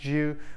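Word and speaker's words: 九: numbers the good nine in Chinese nine is pronounced Zu which also means long lasting as the highest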